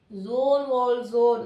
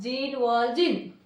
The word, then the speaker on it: Jean Valjean: The correct pronunciation of this word is a Jean Valjean, not Jean Valjean.